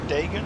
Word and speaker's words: Dagon: Daggers of Dagon. That's how you pronounce that, guys.